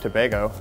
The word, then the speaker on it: Tobago: is from Trinidad and Tobago is I I thought it was toag toag Tobago tomato he he got called out